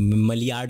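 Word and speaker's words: Maillard: मलियार्ड reaction भी बोल सकते हैं उसको, लेकिन मेयार्ड रिएक्शन उसका प्रोनाउंसिएशन है।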